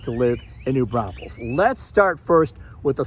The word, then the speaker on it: New Braunfels: here, and we hear News Braunfels quite a bit. It's pronounced New Braunfels. There's even a song about it. There's only one S in New Braunfels.